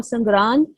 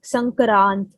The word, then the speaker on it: संक्रांत: So the actual word, the actual pronunciation, or the actual word for Sangrant is Sankrant.